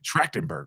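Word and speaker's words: Trachtenberg: know rest in peace Michelle tractenberg yeah that's how you pronounce it tractenberg okay thank you brother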